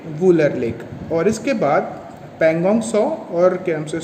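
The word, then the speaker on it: Pangong Tso: ये पैंगोंग सो है, PANGONGTSO, इसमें टी जो है वो ये साइलेंट होता है, सो बोलते हैं इसको, पैंगोंग सो।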